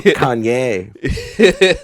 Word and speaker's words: Kanye: They go Kanye. They just They really go in the Y. It's Kanye. They put like a big accent over the E. Yeah. Yeah. Kanye.